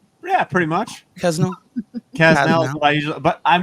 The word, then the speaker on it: Kasznel: Kasznel is what I usually, but I mean, that's what you say is what most people say.